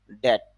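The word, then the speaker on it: debt: বিতর্ক করা ডেট ঋণ বিটি যদি একসাথে থাকে তাহলে বেশিরভাগ বি এর উচ্চারণটা হয় না এজন্য আমরা বলব ডেট অর্থ হল ঋণ ডিখেট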